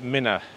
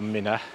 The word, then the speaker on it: Minwear: It's spelt M-I-N-W-E-A-R, Minware Ringworks, but apparently the locals call it Minna Ringworks, and the area of the woods called Minna. I wanted to clarify how it's pronounced, Minware or Minna, and I asked a